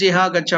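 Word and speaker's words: इह गच्छ: How to pronounce that? Iha, Iha, Agaccha. So, Agaccha means please come. So, in that last letter is conjoined. Cha, first one, and the second one. Both are there. That's why Gaccha, Gaccha. Iha Gaccha, Iha Gaccha.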